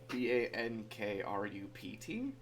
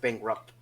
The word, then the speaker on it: bankrupt: I don't pronounce it bankrupt bankrupt see I've pronounced a bankruptcy yeah like the T is very soft yeah so oh I